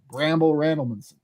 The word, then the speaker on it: Bramble Randlemanson: Just like the last two syllables, you want to kind of like Bramble Randlemanson.